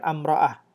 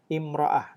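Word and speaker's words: امرأة: itu atau istri itu bahasa Arabnya imroah ya bukan amrah imra'ah nah bacanya yg murah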